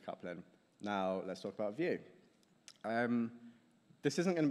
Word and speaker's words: Vue: in a Drupal context so view UJS pronounced view and it's an open